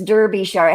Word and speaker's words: Derbyshire: yeah i'm sure okay pronounce the shire it's like sure yeah buckinghamshire huh okay boy that's something i really never knew before okay all the shires are pronounced sure yeah ah derbyshire it's